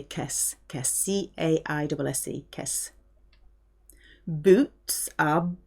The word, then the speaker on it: caisse: It's a bit more informal to say caisse.